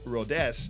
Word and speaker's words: Rodez: Well, the chairman for the club, that I have now learned is pronounced Rodez, Pierre-Olivier Marat, he had a bit more of a grim view on things.